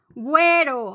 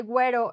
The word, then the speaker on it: güero: Sometimes, and it's just in many, like, few words, sometimes the U is pronounced. So for example, güero, no? Like blonde, the way we say güero in Mexico, güero.